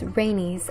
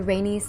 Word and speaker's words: Rhaenys: the next name i have for you is rhaenys after rainy's targaryen spelled r-h-a-e-n-y-s and she assisted in aegon's